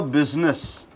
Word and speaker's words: business: How is your business? How is your business? Business. Ippadi sollalama business. How is your business? It's wrong pronunciation. Nalla namachukenga. After A-E-I-O-U, S comes. S is changed to Z.